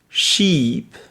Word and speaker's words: sheep: Vous avez sheep, qui est un mouton. Et ship, qui est un bateau. Donc je répète les deux mots. Sheep, ship.